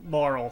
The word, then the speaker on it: Marle: assumed but uh yeah maral seems to be the accepted pronunciation but whatever that's right